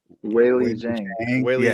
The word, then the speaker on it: Weili Zhang: Weili Zhang.